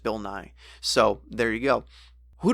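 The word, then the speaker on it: Bill Nighy: after last week's episode I did check the pronunciation and it really is just Bill Nye so there you go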